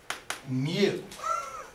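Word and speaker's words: mu: the symbol is the Greek letter Mew it's pronounced Mew okay just so you can get used to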